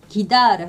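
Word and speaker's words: guiar: 그 다음에 해, 우, 이는 이거는 기로 발음해요. 그래서 기다를 하면 운전하다, 운전하다, 기다를 이렇게 되고, 그 다음에 기 위에 이렇게 땡땡 점이 두 개 붙었죠.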